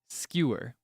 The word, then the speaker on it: skewer: is like a it's one of those words where it's not really clear how many syllables it is. It depends on who says it because some people would truly enunciate it as skewer, but other people might do it as one syllable like skewer.